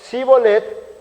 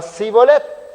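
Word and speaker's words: shibboleth: La misma palabra por algunos era pronunciado Shibolet y por otros era pronunciado Sibolet.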